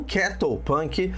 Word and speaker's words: cattlepunk: Bom, então o que exatamente a gente está falando do Carol Punk ou Kettle Punk, se você preferir uma pronúncia britânica.